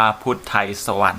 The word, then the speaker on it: พุทไธศวรรย์: พุทไธศวรรย์ นะ ครับ อ่า คำ นี้ อ่าน ว่า พุทไธศวรรย์ นะ ครับ จาก ไว้